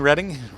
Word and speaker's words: Reading: You mean Reading? You talking about reading Reading? It's Reading. I know, it's weird.